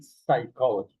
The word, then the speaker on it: psychology: And finally, we have some words where we don't pronounce the P at the end of the word or in the middle or at the beginning.